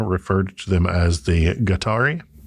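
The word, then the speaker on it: Guatari: I'm pronouncing that word the way that to my limited understanding it would be pronounced in modern Spanish righteous which is gari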